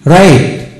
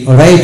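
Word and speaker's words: write: যেমন ডব্লু আর বিশিষ্ট ওয়ার্ডের ক্ষেত্রে ডব্লু এর উচ্চারণ সাধারণত হয় না। যেমন ডব্লু আর আই টি রাইট, এখানে আর আই টি রাইট হবে, ডব্লু এর উচ্চারণ হলো না।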